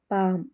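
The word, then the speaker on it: palm: ಆಗಿ K silent ಆಗಿದೆ L silent ಆಗಿರುವಂತ ಪದಗಳು ಪಿಎಎಲ್ ಎಂ ಪಾಮ್ ಅಂದ್ರೆ ಅಂಗೈ ಸಿಎಎಲ್ ಎಂ ಕಾಮ್ ಅಂದ್ರೆ ಶಾಂತವಾಗಿರುಹಚ್ಎಎ ಎಲ್ ಎಫ್ ಹಾಫ್ ಅಂದ್ರೆ ಅರ್ಧ ಇದಿಷ್ಟರಲ್ಲೂ ಎಲ್ ಸೈಲೆಂಟ್ ಆಗಿದೆ ಎನ್ ಸೈಲೆಂಟ್ ಆಗಿರುವಂತ ಪದಗಳು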